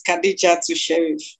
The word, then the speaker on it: Kadiyatu Sheriff: Let us know how to pronounce the name properly. That's right. It's Kadiyatu Sheriff.